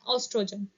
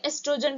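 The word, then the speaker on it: estrogen: ठीक है, और फीमेल सेक्स हार्मोन का नाम है ऑस्ट्रोजन या एस्ट्रोजन भी बोल सकते हो आप।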